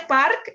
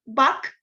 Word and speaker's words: Park: 13 y no y para mí no es park es back y clima y king